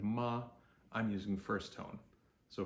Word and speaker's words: ma: is simply ma a which is pronounced Ma just like your grandma so m a m is pronounced just like m is pronounced in English and then a is pronounced like a like when you go to the dentist and the dentist says okay open wide say ah so ma is the